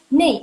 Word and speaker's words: 那: Jadi kan nei, mereka suka bacanya nei, kata ini mereka suka bacanya jadi nei, N-E-I. Kenapa? Karena itu singkatan dari yang lo syupin. Na ike. 3 huruf itu mereka baca jadi satu. Nei. Gitu. Jadi kalian kalau misalnya mau kayak bicaranya seperti orang China, kalian baca huruf ini jadi nei.